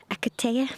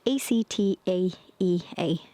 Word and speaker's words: Actaea: Acatea? No, that's not how to say it. Actaea, brunette.